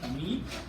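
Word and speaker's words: tamei: And I'm going to give you the word just to spell it out. T-A-M-E-I, tamid, that is impure.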